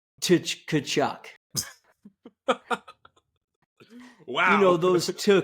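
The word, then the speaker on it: Tkachuk: haven't what my dad when he pronounces the kachuck brothers he always pronounces the T and you're not supposed to and it's the funniest thing what does he say to kachuck wow you know those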